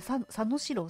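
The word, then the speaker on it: 佐野史郎: かあずみさん佐藤史郎さんですあ佐野史郎さんハしろって誰だしろさんです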